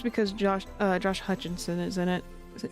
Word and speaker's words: Hutcherson: I said his name wrong. Hutcherson.